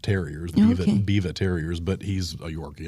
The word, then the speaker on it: Biewer: the Biva family, but it's spelled Biewer, but in German that's Biva.